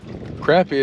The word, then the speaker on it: crappie: If you spell crop, like a farm crop, it's C-R-O-P. So crappie is spelled C-R-A-P-P-I-E, crappie. So that ought to, you know, take care of any questions, further questions on that.